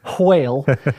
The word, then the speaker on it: whale: the h in whale if you don't say whale then you're not speaking